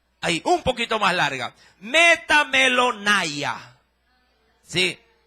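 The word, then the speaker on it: μεταμέλομαι: n a i ahí un poquito más larga metam melona Sí y la primera metanoia más chiquita ahora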